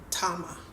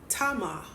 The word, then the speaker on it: Tamar: If Tamar, I'm pronouncing it the Hebrew way, I know you guys pronounce it as Tamar, but let's keep going.